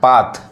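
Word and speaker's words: path: है जैसे एग्जांपल देखिए पी ए टी एच यहां क्या पढ़ रहा है पाथ यहां देखिए टी एच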